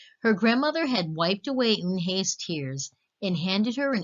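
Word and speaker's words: Unhei: It's pronounced Eun-hye."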